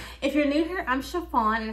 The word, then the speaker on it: Sha-Phawn: you're new here I'm chiffon and it's pronounced like the material and let's get this